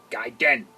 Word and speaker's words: Gaiden: kid icarus ninja gaiden guy den that's how you say it i don't care what anybody says rocky and bullwinkle show